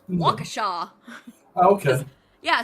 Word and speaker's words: Waukesha: Waukesha. Okay. Yeah, so where you're omitting letters that are actually there, we're adding letters that aren't there.